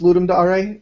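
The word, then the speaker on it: Ludum Dare: do it for ludum I've never known how to pronounce it dare or Dar I I've been told it's ludum Dar even even when I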